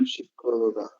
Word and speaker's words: psicóloga: Psicóloga.